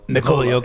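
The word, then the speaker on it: Nikola Jokić: Yeah, it's Jokic, but is Nikolai Jokic? Is it Nikolai or Nikola? Nikola Jokic.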